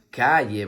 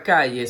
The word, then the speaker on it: calle: La siguiente imagen muestra una calle, muy bien. La palabra calle se escribe con C-A que suena K, doble L-E que suena Y.